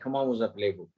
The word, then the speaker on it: comment vous appelez-vous: When you pronounce it like it gets a liaison, so you pronounce it like comment vous appelez-vous.